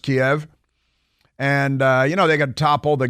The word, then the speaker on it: Kiev: You know, Russia, in theory, hasn't worked out for them so far, roll into Ukraine and get into Kiev, which is still pronounced Kiev.